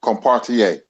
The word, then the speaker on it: Carpentier: Hop said, I think it's Carpentier, isn't it? Yes, it is. It's pronounced Compartier.